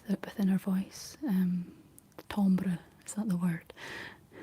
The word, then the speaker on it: timbre: Um timbre, is that the word? It's spelled t i m b r e.